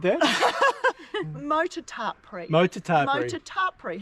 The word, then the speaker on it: Motutapere: and we're going to head off on the north-south, go via Motutapere, Cool. and then come down the Eliza Mine Track. Motutapere, do you like the way she said that? Motutapere.